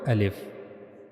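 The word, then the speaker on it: ا: So you have to read al if from this space al if.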